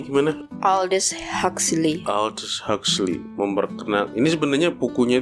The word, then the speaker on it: Aldous Huxley: Apa bacanya gimana? Aldous Huxley.